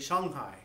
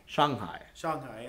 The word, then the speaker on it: Shanghai: the common Chinese words, for instance, you mentioned Shanghai is, I think, how we normally refer to it. And how is it pronounced over there? It's actually Shanghai. Shanghai.